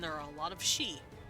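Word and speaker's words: Sidhe: There are a lot of fae and there are a lot of she. She as in the fair folk, not she, her. S-I-D-H-E, I think is how you spell it.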